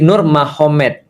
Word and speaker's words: Nurmagomedov: Jadi tulisnya Magomet tapi bacanya Mahomed kan gitu kan ya. Jadi Nur Magomedov itu jadi Nur Mahomed.